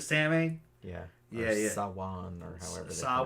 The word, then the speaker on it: Samhain: Sawan, or however they Samhain. pronounce it. Yeah, Samhain, I think.